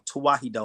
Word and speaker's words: Tewahedo: It's Tawahido, and I'll spell it out for y'all so y'all can look it up.